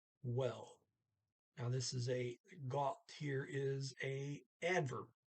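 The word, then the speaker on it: godt: Now, so it goes from gu to got. T is pronounced. And the vowel changes because now you have 2 consonants after the O.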